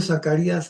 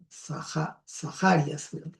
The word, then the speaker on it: Zacarías: En cambio, Zacarías no se pronuncia así, sino es Sajarias.